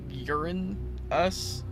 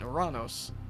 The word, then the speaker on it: Uranus: Uranus is still bad because it's urine us these like I think we should go back to the Roman pronunciation oranos I'm like yes okay